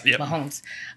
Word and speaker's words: Mahomes: you say that name Mahomes Mahomes yes momes Mahomes um during the AFC divisional playoff game in